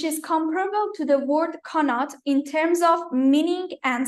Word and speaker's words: Qanat: The word Qanat that we pronounce it Qanat in Farsi comes from the Arabic word Qana.